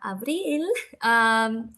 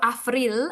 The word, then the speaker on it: Avril: My bahasa Indonesia is kind of rusty, but at least I'm gonna say nama saya Avril, or Avril as it's pronounced in Indonesian, and saya dari Bolivia.